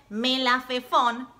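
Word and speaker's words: מלפפון: Se dice melafefón. Pero es una palabra muy divertida, muy graciosa de decir. Probá. Melafefón. Sí, es divertida, Javerim. Digamos juntos. Melafefón.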